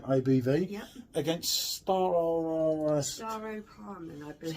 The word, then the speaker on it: Staropramen: Against Staropramen, I believe. Staropramen. That's the pronunciation.